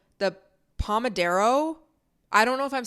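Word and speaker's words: pomodoro: I use this thing and it's called the pomodero I don't know if I'm saying that right but it's spelled p-o-m-o-d-o-r-o and it's essentially this technique where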